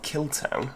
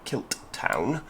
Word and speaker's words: Kilttown: way down to north killtown or kilt town as as it was pointed out to me it should be pronounced because it's kilt town kilt town uh then uh you